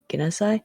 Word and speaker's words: Genasi: Water Genasi? How you pronounce it again? Genasi. Genasi?